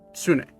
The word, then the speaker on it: Sune: It's pronounced Soon. Sune. Sune. Yes. It's Sune, the goddess of love.